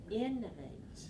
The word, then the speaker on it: innovate: this work innovate innovate so one two three stress the first syllable three syllables stress the first level three one innovate innovate innovate innovate so